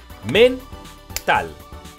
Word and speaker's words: mental: palmada por sílaba veámoslo men tal tiene dos sílabas Y dónde tiene la fuerza de voz vamos a buscarla para eso utilizamos el truco del lobo mental lleva la fuerza de voz en tal Por lo tanto es